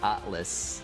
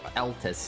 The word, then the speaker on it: Altus: Scadu Atlas. Or Altus, not Atlas.